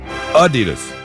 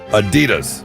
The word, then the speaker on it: Adidas: It's supposed to be on the first syllable. Not the second syllable. Okay. All day I dream about sex. Adidas.